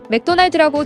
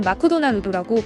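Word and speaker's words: McDonald's: 사실상 맥도날드라는 단어는 일본인들이 제대로 발음하지 못하는 대표적인 단어 중 하나입니다. 맥도날드라고 제대로 발음하는 한국인들과는 다르게 일본인들은 마크도나누도라고 발음을 하고 영어에 더 또한 일본인들은 자라고 발음을 하기 때문입니다.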